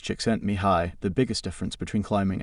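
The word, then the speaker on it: Csikszentmihalyi: According to the Hungarian American psychologist Mihi C6 and Mahili pronounced chickent mihi, the biggest difference between climbing and say football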